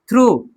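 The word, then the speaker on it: through: थ्रू, थ्रू में जी एच क्या है? साइलेंट है। हम टी एच आर ओ यू खाली पढ़ते हैं, थ्रू, जी एच ना, थ्रू नहीं पढ़ेंगे, थ्रू।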